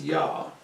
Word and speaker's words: Ea: Ea, which may well have been pronounced Yah, and according to David Roll, is the origin of Yahweh. Ea was the kind, friendly